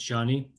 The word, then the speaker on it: Joni: Okay, Perry informs me that it's not Joni, it's pronounced Johnny.